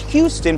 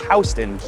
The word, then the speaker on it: Houston: They call it Soho because it's south of Houston Street, not Houston, pronounced Houston.